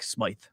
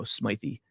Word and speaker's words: Smythe: name type guy myself, I'll always pronounce the vowel unless uh told otherwise, like Smythe. I'm not going to go Smythy.